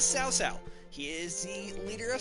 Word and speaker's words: Cao Cao: generational leader as south-south earlier games in the series called him cow cow completely bummed really Japanese for the Chinese pronunciation but this is sow sow he is the leader